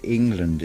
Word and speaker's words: England: also ask yourself why england is so sad and yet it is spelt with the letter e and it is pronounced as an i i also think of